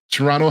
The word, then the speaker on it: Toronto: a person who has been in Toronto recently or Toronto, sorry, not the T is silent. I'd be killed if I if someone heard me say that. Um, Toronto has the perfect infrastructure for it.